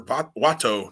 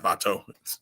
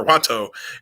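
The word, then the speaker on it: Wato: the champions defend against master watto not vato it's not hispanic jim it's japanese master watto and rice rizuki i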